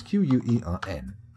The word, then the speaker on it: quern: Q-U-E-R-N. Quern. And it's pronounced quern.